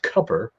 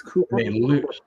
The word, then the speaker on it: Cooper: So that would be a tough Harris pick there, and you mentioned like Roy Cooper, who apparently wants his name pronounced Cupper, of all things.